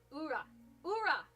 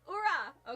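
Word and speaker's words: ура: The Russian version of uh Yay is pronounced. It's got the R though. Like Oh, okay. Hold on. Like It's ura.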